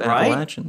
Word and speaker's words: Appalachian: I appreciate the correct pronunciation of Appalachian.